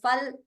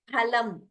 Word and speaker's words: phalam: So this is pa in Sanskritam. It is not fa. There is no fa. In Hindi, it's pronounced as fal. In Sanskritam, it is phalam. Pa, not fa.